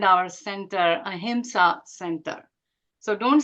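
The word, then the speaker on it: ahimsa: to pronounce the word a himsa so if you didn't pronounce it correctly and you said Hima it actually means violence himsa is violence a himsa is nonviolence and nonviolence is the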